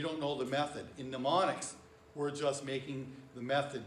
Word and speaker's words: mnemonics: using your imagination um remember on this word the m is silent to say mnemonics mnemonics right so that's so